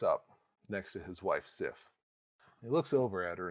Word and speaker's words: Sif: This will have to do with Thor, his wife, whose name is Sif, s i f, Sif, and Loki.